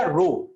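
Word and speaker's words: ρ: इस सिंबल को प्रोनाउंसिएशन है बेटा रो। क्या प्रोनाउंसिएशन है?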